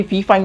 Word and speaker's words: Fifine: condenser mic, जो कि फी फाइन की तरफ से या फाई फाइन की तरफ से आता है, इसको जो भी आप कहना चाहे, इसकी प्रोनाउंसिएशन चाहते फाई फाइन है फाई फाइन है, और इसको